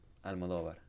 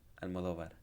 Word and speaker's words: Almodóvar: Almodóvar. Amador. Almodóvar. The emphasis is on do. Almodóvar.